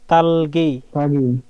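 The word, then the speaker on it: 닭이: তারপরে তালগি, এখানে গিয়কটা এখানে চলে যাবে, তালগি হবে, তালগি, তাগি না, তালগি।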